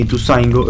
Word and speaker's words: Ituzaingó: veo yo te veo por qué le pones el acento donde no Pablo la concha de su madre en el acento en la o en todos los lugares del mundo porque le pone porque le dicen ituzaingó eh Me acompañas sí